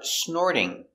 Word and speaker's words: snort: is snort now pronunciation the t here is between an r and a vowel the t changes to a d you hear d snored